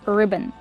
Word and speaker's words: ribbon: It's two syllables. Put the stress on the first syllable. Ri ribbon. Use a short sound like this. Is I ribb. Ribbon. And the second syllable is not stressed. It's relaxed and closed. Un ribbon.